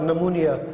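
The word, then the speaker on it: pneumonia: यानी कि साइकोलॉजी और नमूनिया। तो ये अक्सर बच्चों को नमूनिया की स्पेलिंग नहीं आती, जो इसमें PNP जो है ये साइलेंट है और ये नमूनिया जो है उसको लिखते हैं।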